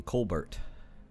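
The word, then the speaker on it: Colbert: think I'm gonna it's like the silent T in Kolbert silent T in calm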